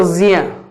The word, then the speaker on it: ज्ञ: वैसे ही अगर हम ज्ञ की बात करें तो यहां ये ज्ञ तो नहीं, शुद्ध उच्चारण होगा ज्ञ।